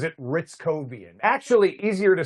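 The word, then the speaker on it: Hrycowian: Like if you look at it, you would want to say hair cowian, but he pronounces it ritzcoian.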